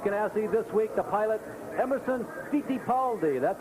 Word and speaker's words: Emerson Fittipaldi: This week, the pilot, Emerson Fittipaldi. That's how they pronounce it in his homeland, but here in the States, we call it Fittipaldi.